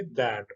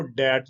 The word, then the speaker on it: that: तो इसको इकट्ठा करके अगर वर्ड्स में लिखेंगे, ये स्पेलिंग है, और इसको ऐसे लिखेंगे दैट, इसको पढ़ेंगे दैट, और आपने इसको डैट नहीं कहना, ये है दैट।